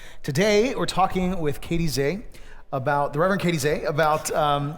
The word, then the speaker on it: Zeh: The Reverend Katey Zeh, pronounced she, her, Zeh, right? Zeh, Z-E-H, but Zeh, is an ordained Baptist minister and the chief executive officer of the Religious Coalition for Reproductive Choice.